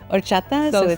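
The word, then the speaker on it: horchata: Orchata. H O R C H A T A. But the H is silent. So you kind of just say the orchata part.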